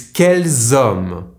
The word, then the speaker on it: quels hommes: Which man is quels hommes? With 1 L and 1 S. Here I am pronouncing the ending S only because homme starts with a silent H, so I am making the liaison.